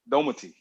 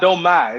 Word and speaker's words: Domati: See, the emphasis has to be on the last syllable. Domati. Domati. No, you said no. It's not Domai. It's just Domati. Domati. Yeah. So it's a speed up, Domati. But you gotta say the T.